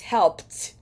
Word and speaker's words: helped: now for the pronunciation what is the Ed pronunciation of the past tense of help that last sound in help is a p sound and therefore the past tense of help is helped helped for number six